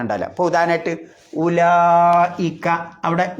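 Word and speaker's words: أولئك: അപ്പൊ ഉദാഹരണമായിട്ട് ഉലായിക്ക അവിടെ ഉലായിക്ക നമ്മൾ എങ്ങനെ എഴുതുക ഉലായി ഇക്ക എന്നാണ് എഴുതുക ഉവ്വ് ലായിക്ക നമ്മൾ ഉച്ചരിക്കുന്നതോ ഉലായിക്ക ആ വാവ് ഉച്ചരിക്കുന്നില്ല കാരണം വാവിന്റെ മുകളിൽ റൗണ്ട് എബൗട്ട് പോലുള്ള സുക്കൂൻ കണ്ടാൽ അറബിയിൽ പറയാം മുദവ്വറായ സുക്കൂൻ കണ്ടാൽ എന്തുണ്ടാവില്ല ഉച്ചാരണം ഉണ്ടാവില്ല അതുകൊണ്ടാണ് കഫറൂഹ് എന്ന് ഓതാതെ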